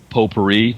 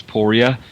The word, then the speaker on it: Poirier: Or the other thing, of course, is if you say porer with a a New England accent, it's poria and it rhymes with gloria.